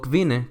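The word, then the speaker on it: kvinde: la regla de que cuando tienes ND juntos, la D se vuelve muda y nada más pronuncias la N, como en las palabras una visa, que significa profesor, o kvine, que significa mujer.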